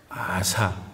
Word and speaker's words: 아사: 누구 남쪽 유다의 왕 아사 요거를 잘못 발음한다 하면 안 됩니다 아사 너무 세게 읽으면 안 돼요 아사 왕이다 오늘 그런데